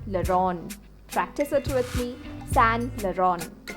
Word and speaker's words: Saint Laurent: Do you say it as Saint Laurent? Then it's time for you to learn it. The correct pronunciation is Saint Laurent. Saint Laurent. Practice it with me. Saint Laurent.